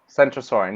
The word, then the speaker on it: Centrosaurian: Centrosaurian. You can't confuse it with Kentrosaurus. It's pronounced with the it's pronounced with the soft C deliberately to avoid confusion with K.